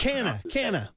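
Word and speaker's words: Canha: never known how to Cana like just can like beer can yeah Cana yeah the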